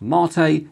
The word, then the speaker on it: MATE: us that it's pronounced marate in common with the South American drink personally I first ran